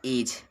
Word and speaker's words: edge: उसके बाद एज, EDGE।